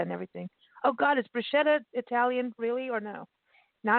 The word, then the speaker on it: bruschetta: Okay, I have to tell you, it's pronounced bruschetta. Okay. Because the CH in Italian is like a K.